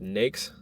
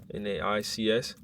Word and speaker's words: NAICS: In government contracting, the way the industries are set up, like the industries which you work in, is called NAICS, N-A-I-C-S, NAICS codes. The way you spell it, N-A-I-C-S, I put that in the chat.